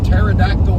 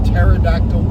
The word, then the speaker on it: pterodactyl: Why can't you hear a pterodactyl P? Why can't you hear a pterodactyl P? Because P is silent. And if you don't know, uh, pterodactyl is pt e r. So, yes, the p is silent.